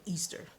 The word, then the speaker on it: Ishtar: Now, Ishtar is also associated with Easter, which makes sense because that's the time of creation and growth. So she embodies that energy. Some people even pronounce her name Easter, but that's neither here nor there.